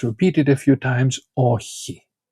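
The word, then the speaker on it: όχι: This is a very common sound in Greek. You have it also in echo or echi which means to have. He has, she has. And so you will find this a lot in Greek and you should learn how to make this sound.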